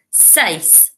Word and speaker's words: seis: Seis. Six. Seis. Siete. Again, like number seven, it starts with an S. Siete. So if we think of six is one syllable, seis, six, seis.